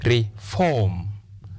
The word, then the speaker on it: reform: This example, reform. The first sound is short vowel sound e. Therefore, we say reform.